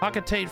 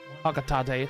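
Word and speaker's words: Hocotate: Said Pocketate Freight is in long haul deep space shipping company one day. Hocatate. Hocatate.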